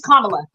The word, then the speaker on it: Kamala: her name is Jay her name is commala well she pronounces it different different in different states okay so you can